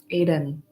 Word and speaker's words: Aydin: Aiden.